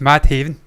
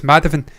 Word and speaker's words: Madhavan: Yeah, we just say it as we think it would be phonetically. Just Madhaven. Yeah. It's Madhavan. Madhavan by far the best performer in this movie, man.